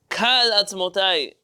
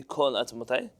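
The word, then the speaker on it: כָּל עַצְמוֹתַי: based on the verse, Kal atzmotai. Now, even though this really should be kol atzmotai, there is a Sephardic tradition that this word is pronounced kal atzmotai.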